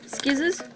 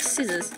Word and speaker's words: scissors: Skizzers. Oh, and I don't actually say skizzers like skizzers. I say it like scissors.